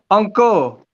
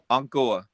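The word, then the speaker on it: Angkor: uncle. Encore. Uncle, yeah. What did I say? Uncle Encore? Crown. Uncle. Oh, like an anchor, like the chip. Yeah, it's uncle. That's ong, like ong, Correction.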